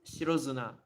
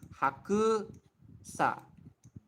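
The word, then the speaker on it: 白砂: shiro in this case, I'm not satisfied with suna. Shiro suna. I would prefer it shiro zuna. It flows easier, so it's like shiro zuna.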